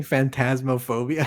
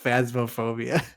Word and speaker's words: Phasmophobia: pronounce uh phasmophobia uh is it phobia or because you've been saying phantasmophobia it's just phasmophobia oh really yeah another